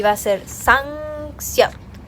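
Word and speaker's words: 쌍시옷: Y ahora vamos a hacer una doble S, que es así, como que la casita, y va a ser Sangseot, Sangseot, más o menos así.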